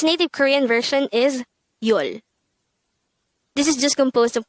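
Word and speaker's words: 열: Its native Korean version is yol. This is just composed of one syllable, which is yol.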